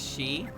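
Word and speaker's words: 四: Well, uh, Wagot Tabi said specifically that for is pronounced she. For can be pronounced she, but, but it's pronounced as yon whenever it's used outside of just being for.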